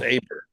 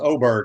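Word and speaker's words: Åberg: this lvic oberg pronounce abber this guy it's pronounced oberg it's an a with a little o on I said it's Aber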